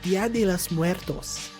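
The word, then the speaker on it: Día de los Muertos: And like, it's Dia de los Muertos.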